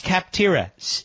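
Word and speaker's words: Capterra: people who use kaptara that's cap tiras just like it sounds phonetically see AP te r ra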